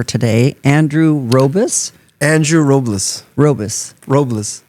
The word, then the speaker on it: Robles: Robles. I also, as a kid, I always got Rubbles, like Barney Rubbles from the Flintstones.